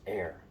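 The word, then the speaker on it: Eyre: one of those um e-y-r-e that's pronounced air and their slogan travel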